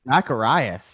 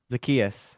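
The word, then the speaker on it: Zaccheaus: Zacharias. Oh, yeah. There's TJ Mark. That's not close to That's not even close to his name. Olita. How do you pronounce that? Zakius.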